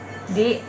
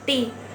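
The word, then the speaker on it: 地: Di lantai atau tanah nih, ti ya. Nah, kalau pinginnya ti atau d ini ya, itu tuh bacanya bukan di ya teman-teman, tapi ti. Jadi d-nya itu diganti t ya.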